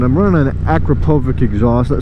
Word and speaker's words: Akrapovic: an Akrapovic exhaust that some people say a chroma vich I don't know what the proper way to say it is I'm gonna go with Akrapovic because that's how I've always said it somebody correct me if